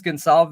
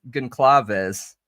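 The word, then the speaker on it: Goncalves: all his other videos he says gon Sal is right and then in this one he says gaves that's how I always said it on accident when I mispronounced it was gaves yeah maybe he was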